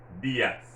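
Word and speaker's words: días: So since the accent is over the I, you have to stress that I, dias. If, for example, the word was D-I-A-S, accent over the A, it would have been dias. We have stressed that A because the accent would have been over the A. But since it's not over the A, it's over the I, you would say dias.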